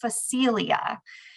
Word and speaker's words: Phacelia: sure I got it right, but it is pronounced Phacelia. And for those of you that maybe have farmer friends or farm connections or farm yourself, this plant, Phacelia, is starting to get a lot of conversation